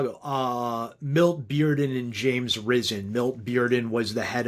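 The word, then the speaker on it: James Risen: And yes, John Hawinson, it is pronounced James Ryzen.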